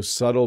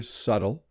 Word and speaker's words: subtle: at the word and you see the B you do not pronounce the b and we refer to